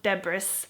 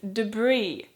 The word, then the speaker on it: debris: debris but it has an S at the end so it's a silent s and it's not debris even though that's kind of what it looked like to me when I first saw it but it's debris again I'm pretty sure this